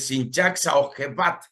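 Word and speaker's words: Simchat Beit HaShoevah: regocijo de las aguas, el Sinchak Saojebat se pronuncia en el hebreo, y representa la festividad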